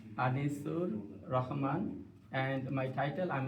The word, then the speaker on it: Anisur: your title just so we know how to pronounce. My name is M. Anisur Rahman and my title I'm the director of the Rajana City Jam.